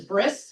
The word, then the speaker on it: brit: Brit literally means covenant, and it's pronounced brit in the Ashkenazi Germanic pronunciation of the word is bris.